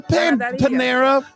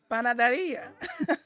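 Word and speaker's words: panadería: It's a Panaderia. Panaderia? Panaderia. It's a Mexican bakery. Give it a go, Brain. Panaderia. Shove off. It's Christmas. He decides he wants to keep the panaderia, and that's good news because Jack apparently got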